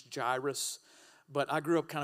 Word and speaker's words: Jairus: then a man named Jay Iris now I know uh the proper pronunciation is gyrus but I grew up kind of with the hip-hop so I call him Jay Iris so just go with